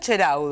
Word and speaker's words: Ceraudo: ¿Cómo se dice, Miriam? En italiano, Ceraudo.